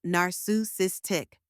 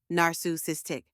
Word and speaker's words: narcissistic: a soft quick sound then comes sis with a strong emphasis like the word sister and finally tick which rhymes with pi now say it with me narus istick one more time narus